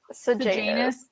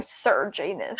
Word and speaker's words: Sejanus: How do you say it? Sejanus. I thought you were saying Sir Janus.